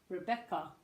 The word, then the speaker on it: Rebecca: first language okay Rebecca what you can hear the unstressed first syllable Rebecca Rebecca so don't forget the Rebecca and you can hear the stress rode back up I'm really over emphasizing but you can hear the stress in the back okay which is why